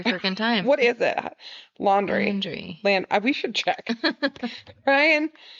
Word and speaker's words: Laundrie: Okay, how do I pronounce Brian Laundrie? Are you sure? Yep, I'm sure. Okay. Brian Laundrie.